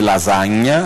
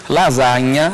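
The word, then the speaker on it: lasagna: s e com GN lasanha é assim que se fala em italiano o GN em italiano corresponde ao NH em português lasanha em italiano lasanha em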